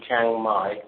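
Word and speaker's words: Chiang Mai: So the cabin followed by the the the city Changai. So that's spelled C H I A N G Chang and my is M AI.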